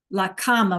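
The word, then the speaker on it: la cama: Tron laama Ola bernardet laama remember we said it sounded like the like a comma like a that we write with right except it's spelled c ma a okay laama what else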